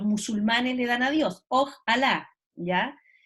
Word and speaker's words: ojalá: Lo castellanizamos como un ojalá, con tilde en la A.